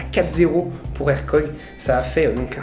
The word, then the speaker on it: Hercog: Alors, ça se prononce Hercog, pas Hercog. En français, on peut le dire Hercog, mais on va dire Hercog, c'est plus facile à dire.